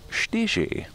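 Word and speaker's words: čtyři: is the number four in Czech and it's pronounced ste she no comment that our neighbors who are in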